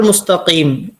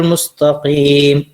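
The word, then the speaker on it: المستقيم: അങ്ങനെയാണ് അതിന്റെ രൂപം അതുപോലെതന്നെ പിന്നെ ഈ ആയത്തിൽ വരുന്ന ഒരു അക്ഷരം ആണ് കാഫ് പല ആളുകളും കാഫ് ശരിക്കും ഇങ്ങോട്ട് പറയില്ല ക എന്നൊക്കെ ചില സഹോദരന്മാർക്ക് ഉച്ചാരണത്തിൽ ഉണ്ടാകുന്ന ഒരു പ്രശ്നമുണ്ട് അപ്പൊ ക ശരിക്കും പറയാൻ എന്താ ചെയ്യേണ്ടത് എന്ന് വെച്ചാൽ നമ്മൾ പിന്നെ നമ്മുടെ നാവിന്റെ ഇതിപ്പോ വായ ആണെങ്കിൽ നാവിന്റെ ഈ ബാക്ക് ഭാഗത്തിൽ ഇവിടെയുള്ള ഭാഗം ഇങ്ങനെ തട്ടിക്കുക മേലെ തട്ടുക നമ്മുടെ അണ്ണാക്കിൽ തട്ടുക വേറെ എവിടെയും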